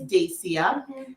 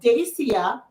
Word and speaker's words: Dacia: is an unusual one it's dacia and if you see it in print you can use all the pronunciations in the book except for the way i just said it yeah and i growing